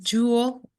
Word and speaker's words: Joule: Jewel Assets, Assets. Jewel is spelled Joule. It's like the energy unit, not like jewelry.